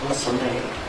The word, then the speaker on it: Soleil: I was doing a great job at the French pronunciation of your name, Soleil, correct?